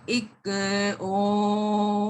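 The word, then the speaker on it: ਇੱਕ ਓਅੰਕਾਰ: ये विचकार अंकार, ओ ओंकार, ज्यादा क्लियरली उच्चारण नहीं करांगे, थोड़ा जा कट करांगे, नहीं तो बहुत अजीब लगेगा। तो एक ओंकार, तो ये जो वर्ड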